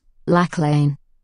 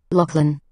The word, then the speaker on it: Lachlan: to hear it Lachlan so that doesn't quite sound right so to get it right I now type how I would like it to sound in this pronunciation field so I would type LOC and Lin breaking the word into the syllables now let's press speak